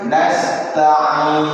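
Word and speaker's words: نَسْتَعِينُ: Kemudian nastain nastain sinnya ketika baca hati-hati jangan terputus nyambung kepada ta nas ta nas ta nasta jangan sampai wa iyyaka nastain astain ini putus ya kemudian ain ee Ee hati-hati juga jangan sampai tertukar dengan hamzah sehingga wa iyaka nastain tain ini tertukarnya huruf ain dengan ee bacaan ee dengan huruf hamzah dan huruf-huruf yang terakhir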